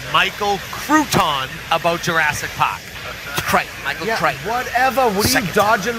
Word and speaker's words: Michael Crichton: was like a science book by that guy michael crewton michael crichton what happened you say crichton i say crewton no no it's not it's not tomato tomato situation it's a it's a proper name michael crichton that's how you say his name well it's